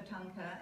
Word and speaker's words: tanka: We say tanka, which is two syllables.